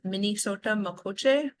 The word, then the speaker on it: Mnisota Makoce: um it translates and it's actually an um pronounced a little bit different it's Minot makoche um it's where the